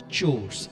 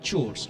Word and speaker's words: chores: just sorry to disturb this will be pronounced chores okay this is Chu it sounds very odd chores right chores today please repeat the question